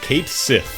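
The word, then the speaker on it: Cait Sith: official Final Fantasy Twitter account was like it's pronounced Kate Sith for Catchy and apparently just broke people's brains.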